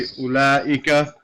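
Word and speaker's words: أولئك: When you say ulaika, we don't say ulaika. We just say ulaika, as if this wasn't there. We say ulaika. But it is there. That's how it was written, but it's not pronounced.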